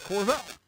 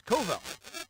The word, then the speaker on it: Covell: met you no the way that they pronounced it I thought it was corval no it's Koval so I corrected it